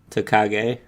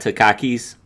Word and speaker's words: Takagi: do you how do you say his name takagi yeah it's not to khakis no or takis talkies